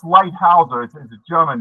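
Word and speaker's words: Leithauser: It's pronounced lightouser.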